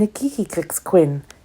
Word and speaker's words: Nkikakixquin: Tatuin and Nkikakixquin, they each practiced, saying the X sound as though they were clearing their throats.